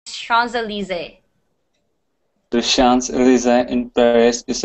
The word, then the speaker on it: Champs-Élysées: This is a French word. It's pronounced Champs-Élysées.